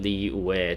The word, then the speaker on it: Liyue: too you know yeah she pronounces it lee where to missing the y in it like the previous coaching